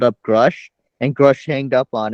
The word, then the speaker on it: Grusch: newfound respect now because uh groosh um grush I mean grush is the correct pronunciation yeah he um uh